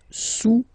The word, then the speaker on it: sous: Le cube est sous le cylindre, okay, le cube est sous le cylindre. Don't pronounce the final S, and then this OU combination of vowels is pronounced OU, okay? Sous, sous.